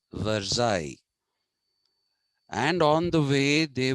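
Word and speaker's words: Versailles: people marched from Paris to the Palace of verai it's written veres v e r s a i l l e s veres it is written but it is pronounced verai and on the way they were passing the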